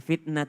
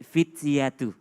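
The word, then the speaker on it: الْفِتْيَةُ: awal fitnah tuil al-kahfi bukan fitnah tetapi fityatu fityatu Haji mohon maaf mohon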